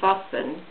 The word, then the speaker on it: Wassen: Now on this occasion I would actually recommend a particular manufacturer called Vassen, which is spelled Wassen.